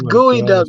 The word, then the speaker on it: geoduck: It's gooey duck, bro. Why is it spelled? Why is it pronunciated gooey duck? Because it's English. Just leave it alone.